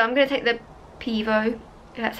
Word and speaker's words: Pivo: So I'm going to take the Pivo, that's how you say it, out.